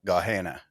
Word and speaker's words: Gehenna: is a place that is, I believe it's pronounced Gehenna.